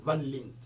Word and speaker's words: Van Lint: Si Larry Van Lit, ça s'écrit V-A-N, et puis Lint, là ça s'écrit L comme Link, mais c'est Lint, L-I-N-T, Lint, Van Lint, numéro 37, Anderlecht, Bruxelles,